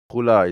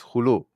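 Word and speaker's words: خلع: It's not khula, it's khulu. Okay, pronounce it wrong. Okay, it's called khulu.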